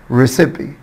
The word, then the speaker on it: recipe: recipe recipe، طبعا هنا مش هقول ريسايب، الاي منطوقه.